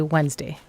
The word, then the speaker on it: Wednesday: The D is silent in Wednesday.